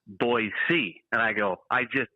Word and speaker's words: Boise: up and I go it's so good to be in Boise and they go hey it's pronounced boyy and I go I